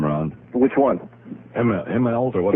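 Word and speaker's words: Immelt: into those shoes, try to How do you pronounce the guy's name, Ron? Which one? Himmel or what? Himlt. Yeah, just Eml.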